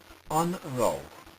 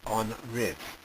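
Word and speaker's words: An raibh: On ró, or sometimes pronounced on riv, means was or were.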